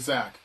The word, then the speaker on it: Zach: get this a lot my name is pronounced like Zack it probably should be Zack because my full name is but I pronounced as if it was spelled with an A yes because has literally